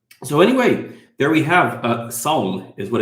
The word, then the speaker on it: Sawm: It's not the S sound like we have in English. They have two different S sounds in Arabic, and it's Sawm. So try to pronounce it in the back of your mouth.